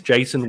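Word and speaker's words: Jayson: Jason Owe with a silent Y.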